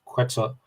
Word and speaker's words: Quetzalcoatl: shown to be what the ancients worshipped as Quetzalcoatl. I always struggle with the pronunciation.